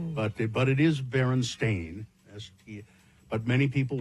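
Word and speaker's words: Berenstain: For instance, the Baronstein Bears book being spelled and pronounced Stein or not Stain as the publishers claim, but but it is Baron Stain as he but many people remember it as Stein or Stein.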